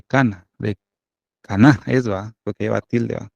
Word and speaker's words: Caná: Que es las bodas de Caná, ¿va? Porque lleva tilde, ¿va? Las bodas de Caná, de Galilea.